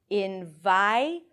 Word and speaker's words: environment: But in fact, what happens is that the vowel is actually pronounced before the R. Listen again. Environment.